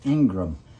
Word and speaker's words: Ingraham: Yeah, it's spelled Ingraham, but it's pronounced Ingram.